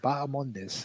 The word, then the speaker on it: Bahamondes: Kenny, I don't know if you could tell us why that H is silent, but the important point on this athlete is that it is Bahamondes and not Bahamondes.